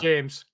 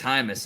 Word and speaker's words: Hymas: gonna chase him yeah it looks like james it's high miss yeah right okay i